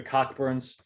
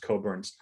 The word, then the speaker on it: Cockburn: and in 1937 the cockburns i say cockburns because that's how it's spelled it's pronounced coburns they lost they lost